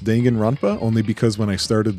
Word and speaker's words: Danganronpa: what this is uh I know it's pronounced dangan ronpa only because when I